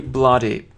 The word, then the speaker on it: blood: Обратите внимание, да, как пишется, как произносится. Трудно, в принципе, произнести правильно, если не знать.